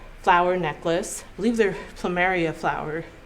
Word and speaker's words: plumeria: I believe they're plumeria flower. Plumeria? I'm not sure how you pronounce.